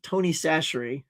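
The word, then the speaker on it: Tony Chachere's: And by the way, that is pronounced Tony Sasherie.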